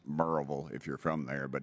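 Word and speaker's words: Maryville: post up where is it sir marville it's pronounced merille if you're from there but it's you would pronounce it marville m a r y v i l l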